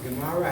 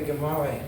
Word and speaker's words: Gemara: Gemara, how do you say it? Gemara, we say Gemara.